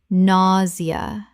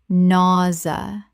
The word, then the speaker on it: nausea: pre-scription prescription Word 53: nausea Common mispronunciation: naw-zee-uh Correct pronunciation: naw-zha Two syllables in natural speech. The zia makes a z sound.